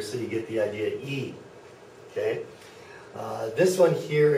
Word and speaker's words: E: a lot of people this is e e not I but e so I'm going to put two e's here so you get the idea e okay uh this one